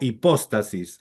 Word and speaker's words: hipóstasis: O hipóstasis, así es como se pronuncia.